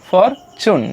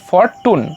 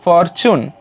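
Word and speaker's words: fortune: মানে অর তাহলে ফর টি ইউ এন ই থাকলে কি উচ্চারণ হবে চুন তাহলে ফরচুন নট ফর টুন উচ্চারণ হবে ফরচুন সুন চেঞ্জড তাদের সেই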